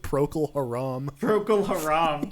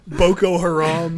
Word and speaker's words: Boko Haram: what did i say he said procl haram look boko haram isn't that what it's called prokalharam pro i just